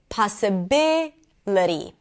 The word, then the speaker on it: possibility: Possible, possibility. So when you add the suffix ity, the stress moves to the one syllable before the suffix.